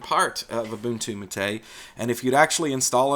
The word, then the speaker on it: MATE: take a look also at a boon to matei now every time I talk about this distribution this giant debate comes up about the pronunciation of matei I know that this looks like mate ladies